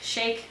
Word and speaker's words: Sheik: Spring Awakening good job Duncan Sheik shake shake it's chic Duncan Sheik the chick